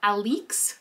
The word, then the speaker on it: Alix: We've got Alix, that's how she pronounces it, the mother of the child, Briar.